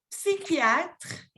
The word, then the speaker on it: psychiatre: Psychiatre. Psychiatre. Psychiatre. Y acá en français se pronuncia la P.